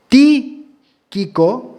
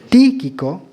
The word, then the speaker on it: Tíquico: Se cree que Tíquico, ¿lo dije mal? No sé. Es quien da un informe de la iglesia de Éfeso a Pablo. Y Tíquico, así se pronuncia. Tíquico, lo digo de nuevo, Tíquico.